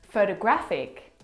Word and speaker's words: photographic: photographer the third example photographic the stress is on the third syllable so you can hear